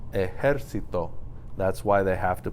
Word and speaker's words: ejército: It's pronounced ejército. That's why they have to put the accent mark over the E, because that's not the natural stress location for a word that ends in an O.